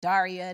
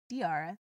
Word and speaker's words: Diarra: earlier maybe people will learn to pronounce my name right which is good because I've been you know Daria diarrhea diara all kinds of things so it's nice that people know diara right um yeah it could